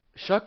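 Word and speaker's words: Shough: You got to see what you have in Shuck. I still can't believe that's how you pronounce it.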